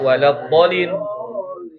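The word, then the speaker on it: ولا الضالين: Contohnya itu di kata waladdallin. Itu bo-nya dibacanya 6 harokat atau 3 ayunan.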